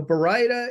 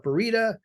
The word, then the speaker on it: baryta: So baryta is the correct pronunciation, but some people call it barita, some people call it baryita, some people call it barda.